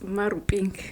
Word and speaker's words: Maruping: It's Maruping, by the way. I'm Zulu. I'm bound to say it like I.